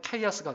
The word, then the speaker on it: chaos: 이 카오스라는 말의 그 스펠링이 CHAOS예요. 그런데 이 카오스가 제대로 되어 있지 않으면 원래 영어로 그냥 읽으면 케이아스가 돼요. 혼란이 돼요.